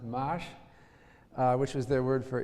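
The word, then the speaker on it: maš: And they had a word which they write as M-A-S, I guess that's pronounced mash, which was their word for interest.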